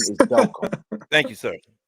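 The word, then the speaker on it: Delcambre: And JB, it is the pronunciation is Delcom.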